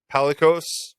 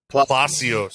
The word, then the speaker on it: Palacios: Richie Palikos, I think is the right way to say it. Palacios. I like that better, Dave. I think that's brilliant. We'll go with that.